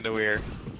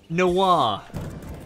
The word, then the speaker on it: Noir: How does it say? Noir. It's French. That's an I! Yes, noir. Like a film noir.